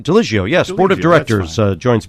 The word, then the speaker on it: Ligio: Port Chester, Artistic Director Carole, Alexis, and Frank Ligio. Is that right? Ligio, yes.